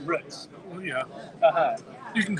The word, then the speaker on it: Root: R-O-O-T. Pronounced Roots.